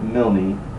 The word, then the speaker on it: Milne: Some people pronounce it Milne. I guess it depends on where you're from.